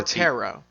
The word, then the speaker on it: tarot: you guys know what tarot cards are T tarot it's tarot the silent yeah it's tarot it's tarot or tarot tarot the t is silent I know this that's